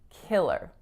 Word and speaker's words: killer: so it for killer make sure that your first strongest vowel is again that lacks its sound kick kick and then ler ler so on your er that's one vowel sound right so some of my clients when they see er they have a tendency to say air or something similar but it's really just